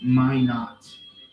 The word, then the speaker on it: Minot: It's pronounced Minot, like like in North Dakota.